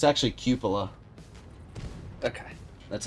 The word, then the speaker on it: cupola: It's actually cupola. Okay. That's how it's pronounced.